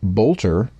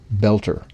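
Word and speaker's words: Boelter: This vowel combination has also given rise to at least 2 pronunciations of Mr. Vance Luther's surname, with some newscasters saying Bolter and others opting for Belter.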